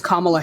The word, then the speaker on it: Kamala: It's not hard to say someone's name correctly. It's Kamala Harris.